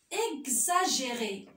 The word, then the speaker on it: exagéré: Et des fois, le X se prononce Gz. Comme exagéré. Exercice.